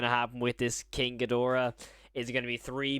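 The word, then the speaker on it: Ghidorah: no it's notra yep wait gidra I swear it's gadora I've been saying it wrong my entire life there it is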